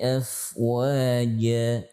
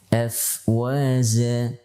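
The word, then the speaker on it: أفواجا: Contoh yang lain, yadkhuluna fi dinillahi afwaja, ya. Tidak boleh dibaca afwaza menjadi zai atau jim dengan hams. Afwaja, ini kesalahan yang fatal.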